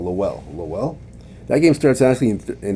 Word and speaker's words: Lowell: Massachusetts Lowell. I pronounced it wrong. Lowell.